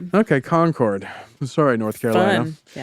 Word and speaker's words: Concord: By the way, that you know what's interesting about that town in North Carolina, they pronounce it Concord. Oh, really? And out here we say conquered.